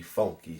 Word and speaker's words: Phunky: Once I hear I might recognize it more is God made me funky spelled with ph u n k y.